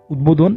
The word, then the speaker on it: উদ্বোধন: নিয়ম 4 আমরা বলতে পারি উত উপসর্গ যুগে তৈরি শব্দে দ এর সাথে ব ফলা যুক্ত হলে ব এর উচ্চারণ স্বাভাবিক থাকে, অর্থাৎ ব উচ্চারিত হয়ে থাকে। যেমন উদাহরণস্বরূপ আমরা বলতে পারি উদ্বিগ্ন, উদ্বেগ, উদ্বোধন ইত্যাদি শব্দ। এতে ব উচ্চারিত হয়েছে।